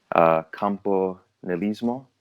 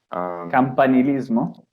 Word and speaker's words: campanilismo: molte cose per esempio non so come si pronuncia ma campo nel ismo oppure scusa o campo nanismo campanilismo sì il concetto di essere molto fieri del